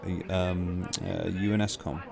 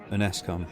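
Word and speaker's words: UNSCOM: under the supervision of UNESCOM. UNESCOM. Is it how they say it, isn't it? The UNESCOM or something like that. It's not spelt that way, but that's how they pronounce it.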